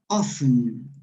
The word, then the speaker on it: often: Often. T is not pronounced.